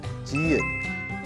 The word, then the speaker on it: 지읒: The next character is 지읒. 지읒. Pronounced j. j. Almost like the English G or J, depending on the word.